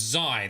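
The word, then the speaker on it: xi: for you like pie so it's zai that's how you pronounce it cool thank you all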